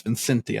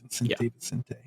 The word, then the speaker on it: Vicente: I think I said his name wrong the entire last episode, but it's Vicente, I believe. Vicente.